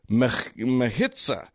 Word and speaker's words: mechitza: And contrary to the custom of that site, they actually erected a mechitza. Mechitza, I'm going to say is the pronunciation. That's just a guess.